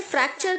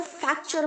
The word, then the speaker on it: fracture: करना ओके फॉर्मूले फॉर्म बहुत सारे बच्चे यहां पर क्या गलती करते हैं फ्रैक्चर को फ्रैक्चर बोलते हैं अभी भी जो बच्चे मेरा ये लेसन देख रहे हैं उनमें से अधिकतर बच्चे फ्रैक्चर की जगह पर फैक्चर बोलते होंगे गलत प्रोनाउंस है बच्चों फैक्चर नहीं रखना